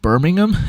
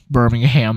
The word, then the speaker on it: Birmingham: By the way, for Americans, it's pronounced Birmingham. This is not Birmingham, Alabama.